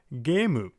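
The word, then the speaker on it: ゲーム: For example, in the word gemu, we have ge, and then the vowel extending line, see it more of a ge, and then mu at the end for gemu.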